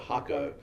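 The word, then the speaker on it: Jacó: and so we were in a place called hakko which is j-a-c-o but they pronounced it hakko and um it's famous for surf okay and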